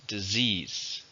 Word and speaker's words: disease: noun a countable noun how many syllables disease 2 stretches on a second I'm afraid there's that